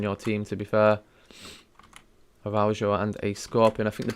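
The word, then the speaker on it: Araújo: So the next 3 centre-backs are going in team number 4, which is Araujo. That's how you pronounce that.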